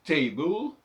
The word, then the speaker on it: table: on alors par exemple table table on prononce pas le E c'est aussi une autre catégorie possible on prononce pas le E final ça c'est à la